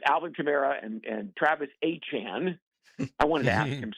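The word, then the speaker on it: Etienne: And and listen that's a physical run game with Alvin Chimera and and Travis Achan.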